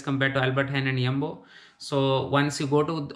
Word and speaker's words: Jumbo: So let's see the price of milk in Jumbo first. J is pronounced as Ye in Dutch.